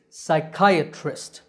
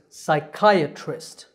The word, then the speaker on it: psychiatrist: the correct pronunciation is psychiatrist it starts with psy the p is silent the part in the